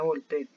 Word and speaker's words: Voltaire: filósofo se llama voltaire se escribe voltaire y se pronuncia volpe él decía que las